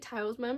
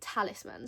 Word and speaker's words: talisman: literally cannot read certain words and I was pronouncing it talsman because I'd switched some of the letters around in my mind it's actually Talisman so thank you to whoever commented on my